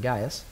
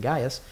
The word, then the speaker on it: Gaius: said but crispus and gaius um lest any and that word guys is pronounced differently if you pronounce it correctly but that's okay lest